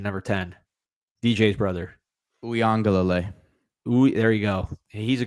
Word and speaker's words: Uiagalelei: Good defensive ends with the two Poly kids, including how do you pronounce his last name, number 10? DJ's brother. Uiagalelei.